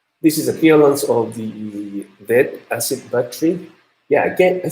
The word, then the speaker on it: lead: Yeah, as I talk a lot of time, lead acid battery, pronunciation is lead, not lead.